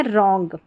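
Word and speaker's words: wrong: है अब यहां है रॉन्ग डब्ल्यू आर साथ में है आर को पढ़ना है र और डब्ल्यू साइलेंट है रॉन्ग और रिस्ट रिस्ट का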